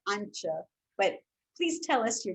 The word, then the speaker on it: Antje: I apologize, but it's something like Antje. But please tell us your name and where you're from. Hi, first, thank you for having me here. My name is Antje.